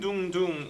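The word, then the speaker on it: 둥둥: person to on tune dundun is how koreans pronounce the sound of a drum the haters keep on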